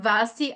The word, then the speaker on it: Basti: Basti and Vasti are synonyms, right? Yes, same. Sim, é só uma pronúncia. Se escreve com B, mas se fala V na hora de pronunciar.